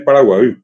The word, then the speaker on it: Paraguay: Así en el actual Mercosur, Paraguay, cuya verdadera pronunciación es Paraguay. Hasta ahora mucha gente que viene del interior dice Jata Paraguay, Paraguay, Che Paraguay. Esa es la correcta pronunciación de la palabra. Y lastimosamente quedó en Paraguay porque la I no existe en castellano.